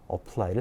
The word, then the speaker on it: apply: 우리가 apply 이렇게 읽죠. 여기에 힘이 실린단 말이에요. Y를 올려 읽었습니다. A는 힘을 받지 않는 슈와 약간 슈어라고 슈어. 강세 없는 발음.